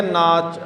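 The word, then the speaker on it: ਨਾਚੇ: हुण इत्थे आ गया नाच नच शब्द आया नच की उच्चारण करना इहदा नाचे नच नहीं कहना इनू इनू कहना ना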